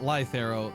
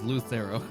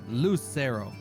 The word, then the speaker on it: Lucero: No, not Lythero. His name is Lucero. It's not Lythero. Like Lucy, Lucero.